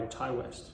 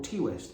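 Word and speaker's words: Ti West: to um X By Thai West or t West if you mispronounce it it's prequel of this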